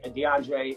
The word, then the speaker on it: DeAndre: Like I watched the show last night with DeAndre and Don't say DeAndre. Dondre. DeAndre. Yeah, you said it right the first time.